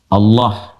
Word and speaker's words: Allah: A lagi kemudian H dibacanya tetap mengembalikan kepada diksi aslinya tulisan aslinya dalam bahasa Arab yaitu Allah. Ingat ya Allah.